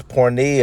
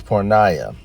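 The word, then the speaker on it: πορνεία: he used here is pornia as you see let's hear the uh let's hear at the proper pronunciation shall we Strong's G 4202 parnaya parnaya all right I stand corrected it's poor Naya but nonetheless let's go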